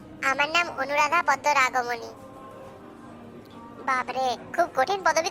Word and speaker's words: পদ্মরাগমণি: পারবো না না না কেটে কেটে উচ্চারণ করো ঠিকই পারবে আচ্ছা আমি বলছি তুমি বলো বলো পদ্ম পদ্ম রাগ রাগ মনি মনি তবে এবার একসাথে বলো